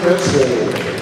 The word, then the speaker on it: Petzl: George Petzl, two syllables.